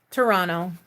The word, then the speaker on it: Toronto: Oh yeah, I pronounce that Toronto. That one sounds funny too, because I don't pronounce the second T. Toronto.